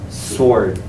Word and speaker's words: sword: um so it's just sword sword sword you kind of forget the W sword uh 24.